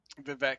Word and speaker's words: Vivek: Vivek, you said it.